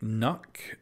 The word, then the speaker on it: Nøkk: the line through it which I believe is supposed to be pronounced something like knok I believe something like